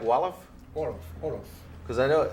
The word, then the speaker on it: Wolof: We speak Wolof. Olive? Wolof. Olive? Wolof. Huh. And French too. Olive and French. Yeah. Is that like Wolof?